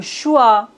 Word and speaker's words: choix: On ne doit pas prononcer S final. T comme le concert. Le dessert. X comme le choix.